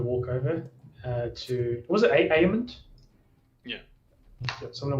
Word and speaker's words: Aemond: And how do you pronounce? Is it Aemund? Yeah, Aemond.